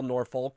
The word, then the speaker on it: Norfolk: I really emphasize the L, Norfolk State. There's some people who are a little dicey in how they pronounce that school, which after they beat my Tigers, I'm not opposed to.